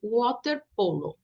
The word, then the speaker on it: waterpolo: No caso desta palavra, é como a do U, waterpolo. Waterpolo.